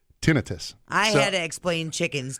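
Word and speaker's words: tinnitus: got tenus which is that's how you pronounce it by the way it's not ttis I already know that just letting you know I already know that it's tinitus I had to explain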